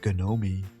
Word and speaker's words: Ganomee: first Gnomie story yet, gnome pronounced Gnomie, the gnome, you should definitely check that one out.